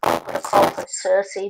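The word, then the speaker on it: Circe: lot of discussion um Cersei because that's how most people would pronounce it in English um and the way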